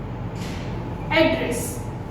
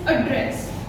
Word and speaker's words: address: Now again, address is having two different kinds of pronunciation. One is address, right? And the another pronunciation is address. One is address and another one is address. So this address means it acts as a noun.